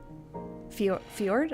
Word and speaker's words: Fjord: But if I have to pick someone else, I would pick Fjord, I think? Ford? I think the J is silent, but played by he's played by Travis Willingham.